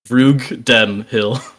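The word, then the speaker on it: Rugdenhill: Like if you want to learn how to pronounce my last name, put like a comma after the G, and then after the N. Rug Den Hill.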